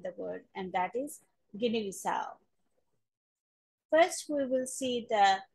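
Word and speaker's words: Guinea-Bissau: shape again, Guinea, B, and then there is stress on the last syllable, which is the fourth syllable. S and A, as in cow. Guinea Bissau.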